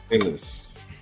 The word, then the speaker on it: Nihilus: I see Nihis. That is an L. Right? It is an L. Nihilus.